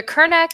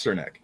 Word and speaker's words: Cernak: So it was either Kernak or Cernak. No. I'm pretty sure it's Cernak.